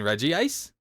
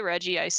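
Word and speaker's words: Regice: that the anime doesn't necessarily have the correct pronunciation either yeah that's true I'm looking at you reg ice you mean Reggie ice shut the up I mean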